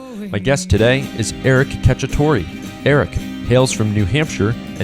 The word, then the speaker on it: Cacciatore: Eric Cacciatore.